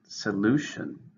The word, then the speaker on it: solution: and it's a noun three syllables stress in the second solution okay that's the problem